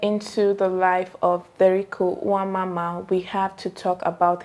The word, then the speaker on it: Nwamama: like listening to the voice note and like, Nwamama, Nwamama, oh my god.